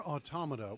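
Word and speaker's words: NieR:Automata: Near Automa, which I pronounced that way because to me, the title evokes the word automaton, and pronouncing it automata makes the person sound like they're from New Jersey.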